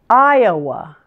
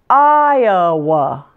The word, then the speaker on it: Iowa: syllable and Indiana Indiana Iowa this tiny little word actually has three syllables again stress the eye and separate it from the Oh Iowa Iowa Kansas this one